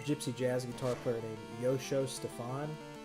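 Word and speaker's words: Joscho: jazz guitar player named Yosho Stefan. His name is spelled with a J, his first name, and it's spelled like Josh Cho.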